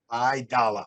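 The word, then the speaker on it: Aidala: name is Arthur Dalia I I mispronounced it last time IIA idala I dollar I dollar like dollar bill of which you charge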